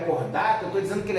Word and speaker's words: Chordata: O nosso filo se chama cordata, se escreve chordata, né?